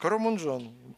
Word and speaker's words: Карамунжон: Он читается, да, в русском там, Куроно дефис, О дефис, Мунжон. Но местные на фарси, на даре, они говорят, Карамунжон.